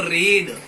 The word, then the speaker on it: read: लेकिन जो second form है इसको जब अपन बोलते हैं, इसको बोलते हैं रेड। इसकी सेकंड फॉर्म जो है वो कहलाती है रेड। हालांकि स्पेलिंग एक जैसी होती है लेकिन बोलते हैं इसको रेड है।